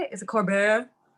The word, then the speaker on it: Colbert: Is it Colbert? Colbert.